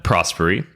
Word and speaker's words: Prosperi: us today please welcome prosperi prosperi welcome to rebank thank you will thanks for having me and thanks for pronouncing my surname right one of the very